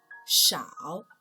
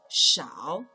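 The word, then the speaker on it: 少: part by itself means little or few it's pronounced as shao implying that the stir-frying process only takes a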